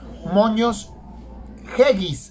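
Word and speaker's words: Moños Geggis: Moños Yeggis, así se pronuncia. Moños Yeggis, G-E-G-I-S.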